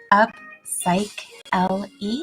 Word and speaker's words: Upsychelly: clear when I mentioned it earlier upcycling is pronounced up psych l e it sounds like upcycling but without BNG all